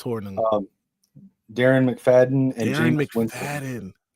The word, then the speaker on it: Hornung: Honorable mentions, they've got Paul, I can never say his name right, Hornung? Yeah, it's Hornung.